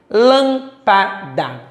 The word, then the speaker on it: lâmpada: Lâmpada. Última sílaba, penúltima sílaba e antepenúltima. Observamos que a sílaba mais forte é a antepenúltima.